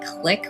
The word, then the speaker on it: Clique: I'm hoping we have Vendilian Clique which is pronounced click where I'm from, but it disrupts hands.